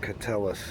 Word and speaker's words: Keteles: It's pronounced Catellus.